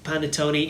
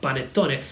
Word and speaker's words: panettone: Well, first of all, I can understand if as an English native speaker he pronounces panettone instead of panettone.